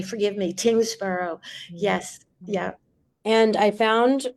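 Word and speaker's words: Tyngsboro: Chance Lee, who is the assistant director at my apologies if I mispronounced this, the Tingsboro Public Library. Tingsboro. I said Tewksbury. Forgive me. Tingsboro.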